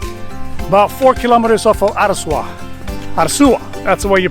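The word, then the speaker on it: Arzúa: coming of santiago about four kilometers off of araswa that's the way you pronounce it well folks made it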